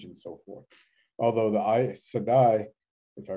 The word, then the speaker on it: Aes Sedai: Although the Aes Sedai, if I pronounce that correctly.